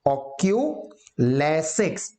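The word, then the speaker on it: oculesics: Eye contact का ही दूसरा नाम है ऑक्यूलेसिक्स, ध्यान से, ऑक्यूलेसिक्स, प्रोनाउंसिएशन ध्यान रखना, ऑक्यूलेसिक्स को आई कॉन्टेक्ट भी कहते हैं।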